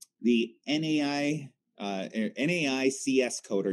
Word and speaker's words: NAICS: the NAICS code or NAICS code, kind of like pronounced like snakes, is how I believe it's pronounced, or occupation.